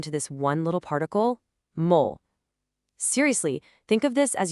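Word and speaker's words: も: We're talking about mole pronounced mole.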